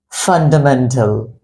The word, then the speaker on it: fundamental: this word whereas it this word starts from the sound of F and how do you